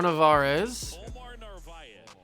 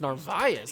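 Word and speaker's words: Narváez: he really wanted to omar navares oh it's narvaez i didn't know that's how you pronounce it okay omar narvaez i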